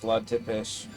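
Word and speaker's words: Țepeș: Oh, it might actually be pronounced Vlad Tepes. That's how I've heard it said.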